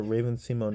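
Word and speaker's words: Raven-Symoné: So, but I think Raven Simone, like, or Raven Simone is how she pronounced her name actually.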